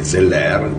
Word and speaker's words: Zeller: E Zeller, giusto per essere fedeli alla pronuncia francese, ha scritto un testo matematico straordinario.